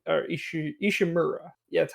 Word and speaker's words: Ishimura: Isaac Clarke goes to the Ishimura, like or Ishimura, yeah, that's how you say it.